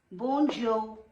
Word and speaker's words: bonjour: This is bonjour, bonjour. R is silent.